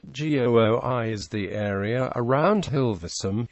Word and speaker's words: Gooi: referred to as het GOI or the GOI area het GOI is the eastern part of the Amsterdam metropolitan area g o i Rhymes roughly with the English name Roy the G is pronounced